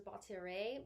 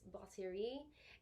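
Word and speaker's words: batterie: some people pronounce as baltierre but it's baltiri um very very you gotta have the french uh accent in there to make it sound right it's a it's a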